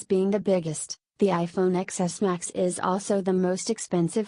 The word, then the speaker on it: iPhone XS Max: The iPhone XS Max, pronounced XS Max, is the biggest smartphone Apple has ever made.